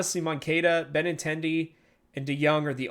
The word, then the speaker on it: Moncada: Dominic Fletcher, Andrew Vaughn, Yohan Moncada. That's right. Moncada.